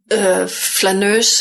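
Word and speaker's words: flâneuse: Flaneur, how do you pronounce it? Flaneuse.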